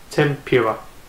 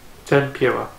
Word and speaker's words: tempura: from someone on my favorite snacks in Japan tempura in hiragana it's actually written as tenpura te n P you are a BOTS is pronounced tempura tempura and also do you member film a few